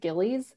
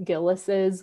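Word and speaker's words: Gilles: the book is that a lot of people pronounce it Gillies but that's not correct it's it's actually gillis's with the like the apostrophe at the end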